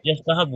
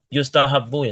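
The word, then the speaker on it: يستحب: Gimana yastahab bacanya berarti? yastahabu Ustaz. Kok yastahabu? Yang tadi udah diharokatin belum iyanya? Oh, ya Ustaz. Yustahabu ya Ustaz.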